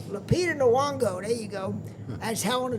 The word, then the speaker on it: Lupita Nyong'o: I can't pronounce her name. Lupita Nyong'o. Lupita Nyong'o, there you go, as Helena Troy, and people